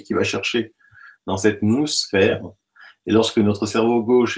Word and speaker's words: noosphère: Alors, ça s'écrit N-O-O-S-phère, noosphère.